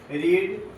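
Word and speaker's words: read: रेड रेड हो गया यानी रीड रीड रेड रेड होता है इसको बोलते हैं ठीक स्पेलिंग सेम रहता है लेकिन रेड बोलते हैंड भी रेड हो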